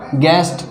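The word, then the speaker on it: guest: अब इसको साइलेंट है इसमें देखो गेस्ट गेस्ट यानी मेहमान तो इसमें भी यू साइलेंट है अब हम देखते हैं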